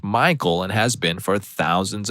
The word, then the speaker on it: Michael: And again, this girl was adamant it was pronounced Michelle. Mom beuse said something along the lines of, "It's literally a name from the Bible. It's pronounced Michael and has been for thousands of years."